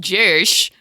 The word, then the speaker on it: Jersh: Yes, so I wanted to highlight the post from DM Just Jersh. That is how it's spelled. I'm not just saying it like that.